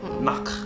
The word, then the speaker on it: Nacht: Pakai bahasanya Jerman. Ya, Austria sedikit banyak terpengaruh dengan bahasa Jerman juga. Jadi pengucapannya harusnya mirip-mirip. Nacht.